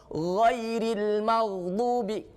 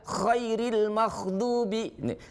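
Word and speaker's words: غير المغضوب: Kho sama gho, kalau kita pelafalannya tidak dengan hati-hati, maka bisa jadi huruf kho itu lari ke gho, dan huruf gho lari ke kho. Ghairil maghdubi, karena kita tidak berhati-hati maka jadilah khairil maghdubi.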